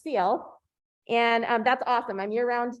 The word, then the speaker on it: Sealth: So if you said self all these years, it is pronounced Sealth.